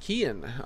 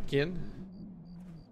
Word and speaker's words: Kian: Your name is pronounced Kian. Alright, well, it's Kian.